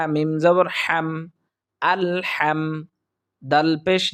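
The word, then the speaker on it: الحمد: আল হাম বলি অর্থাৎ হা হচ্ছে হলকের মধ্য থেকে উচ্চারিত হবে আমরা সেখান থেকে উচ্চারণ করার চেষ্টা করব হা মিম জবর হাম আল হাম দাল পেশ দু আলহামদু লাম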